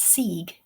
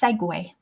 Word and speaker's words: segue: So until embarrassingly recently, I always thought that word was sieg. It is not. It is segue.